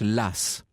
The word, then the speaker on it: Law: écossais aux idées audacieuses john law alors ça s'écrit l'eau comme loi en anglais elle a w mais la tradition veut qu'on prononce las je trouve cette tradition